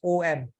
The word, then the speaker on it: om: English text just spelled as om rather than a u m when you do when you use the Sanskrit writing of om basically is a combination of a and a u becoming o but pronunciation definitely oh not our own thank you yeah no